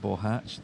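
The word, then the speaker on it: Boháč: here at the pronunciation I am assured because I ask that that is the correct pronunciation of Mr bohach's name radic bohatch that is his name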